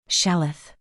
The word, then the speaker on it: Shalith: Shalith, she pronounced it with a soft exhale. But it's more than hope. It's the act of holding on when there's no reason left to defiant hope. Shalith, I repeated, mingling the pronunciation.